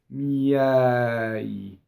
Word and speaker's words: miei: So if you look at the word miei, both of those I's are semivowels, right? One is there to make the Y sound into the E. There's a glide, right? And the next one is just a grace note semivowel. right? And the accent of the word is the eh. So if I did it in slow motion, it's miɛi. And you see the e, both e's are different in that word, right?